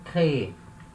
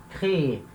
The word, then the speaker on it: créer: Como é o verbo créer. É o verbo criar. Criar, conceber, enfim, verbo créer. Repara quando eu falo, ó, créer. Eu falo duas vezes, créer, créer, porque a sílaba tônica é a última, tá?